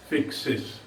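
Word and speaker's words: fixes: एक वचन है पैट्रिक, तो एस जोड़ने से क्या बना उच्चारण? फिक्स, फिर वही हो रहा है फिक्स, तो गलत है। इसलिए यहाँ पे वाई तो है नहीं, इसलिए यहाँ पर भी ई एस लगेगा, फिक्सेस।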